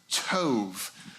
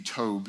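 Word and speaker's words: טוב: the Bible and it's the word Tov uh say Toe with me Tove uh some you can also depending on how you pronounce Hebrew can be a b Tobe Tov uh and Tove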